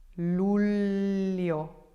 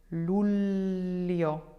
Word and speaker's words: luglio: Famiglia, figlio, figlio, figlio, coniglio, coniglio, coniglio, luglio, luglio, luglio.